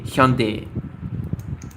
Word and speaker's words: Hyundai: the Japanese market, but the actual way you pronounce it is actually Hyundai.